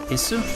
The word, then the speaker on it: Ys: Isu? Yeah, it's pronounced like geese. The pronunciation guide for it, the one that most people use, is like geese, but without the G, so geese.